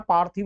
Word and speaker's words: पार्थिव: ल लौकिक ये आएगा पथव नहीं होता है पार्थिव होता है यहां पर भी आ